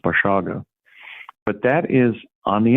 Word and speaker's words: Basiago: can find it my name is spelled basiago in multiple it's pronounced bashaga but that is on